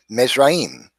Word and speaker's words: Mizraim: We see in Hebrew, the word is pronounced Mizraim. And that's exactly what the Bible says. It says that the sons of Ham were Cush, Mizraim, Phut, and Canaan.